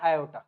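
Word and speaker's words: aorta: तरफ लेके जाता है इसको हम बोलते हैं आयोटा क्या बोलते हैं हम इसको आयोटा या फिर बहुत सारे लोग इसको ऑर्टा भी बोलते हैं इसकी स्पेलिंग होती है ये ए ओ आर टी ए ओर्टा यह क्या है ये है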